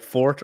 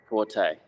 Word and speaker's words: Forte: lot is is the is your name pres pres pronounced like a fortress or like someone's strong suit is it like Fort or Forte Forte okay okay um and so